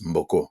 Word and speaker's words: Mboko: beaucoup qui qui s'appellent ils il prononcent Mboko. Nous on dirait Mboko chez nous au Congo.